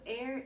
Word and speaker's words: e'er: So air is a contraction of the word ever, because we only have one pitch. We only can have one syllable instead of ever. We say air. It's like you cut out the V. There's no V.